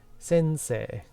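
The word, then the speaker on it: 先生: When you have these two vowels together like this, sensei, this becomes a long vowel. Because you notice it's e, e. This basically becomes a long e sound.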